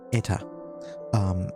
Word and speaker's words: Eta: Last session, you guys had taken it upon yourselves to visit a nearby village called Eta. ETA. That's what it's pronounced according to the name of the artist who made it.